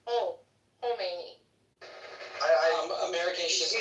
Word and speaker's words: Khomeini: I just want to tell you, it's not pronounced Khomeini. The K silence. It's Khomeini.